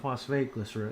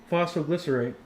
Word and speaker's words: phosphoglycerate: It's not phosphate glycerate. It's phosphoglycerate, right?